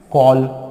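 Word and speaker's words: call: लेकिन स्पेलिंग में क्या ओ फॉर ऑरेंज लगाते हो? नहीं लगाते हो, ए लगाते हो। क्यों? सोचो क्यों लगाते हो? क्योंकि हमारा जो ए है उससे ओ का साउंड भी आता है।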